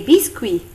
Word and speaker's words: biscuits: Dans le mot fruit, on ne prononce ni le T ni le S.